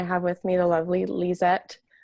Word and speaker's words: Lezette: now sure um well again my name is liette and you totally said it right um and